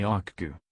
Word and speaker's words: Okcu: Today Akku, pronounced Akku, outfits boats, private aircraft and vans, either a Mercedes-Benz Sprinter or V-Class, Metris in the United States.